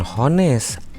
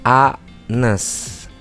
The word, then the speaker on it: honest: Dibacanya bukan honest, honest.